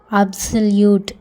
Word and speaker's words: absolute: ஏ அப்படிங்கிறதுக்கு ஆ அப்படிங்கிற சவுண்டும், பி அப்படிங்கிறதுக்கு இப் அப்படிங்கிற சவுண்ட் போடுவோம். எஸ்ஓஎல் செல். யூக்கு அப்புறம் ஒரு கான்சனன்ட் டி வந்திருக்கு, அப்புறமா இ வந்திருக்கு வவ்வல். யூ ஒன் கான்சனன்ட் அப்புறமா இ வந்துச்சுன்னா அது ஸ்ப்ளிட் டயக்ராஃப்னு சொல்லுவாங்க. அதை ரெண்டையும் சேர்த்து எப்படி வாசிக்கணும்? யூ அப்படின்னு வாசிக்கணும். டீக்கு என்ன போடணும்? இட். அதனால் யூட், அப்சல்யூட் அப்படின்னு வரும் எல்லாம் சேர்த்து.